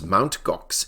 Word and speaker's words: Mt. Gox: The Mt. Gox incident, or some pronounce Mount Gox incident, as well as